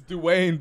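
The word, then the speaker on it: Duayne: It's Dwayne, baby. But that it's is Dwayne. Not how I've ever seen Dwayne spelled. It's Dwayne. Before. It's the British version. It's spelled D-U-A-Y-N-E. Yeah, thank that's you. Like the Gaelic joint.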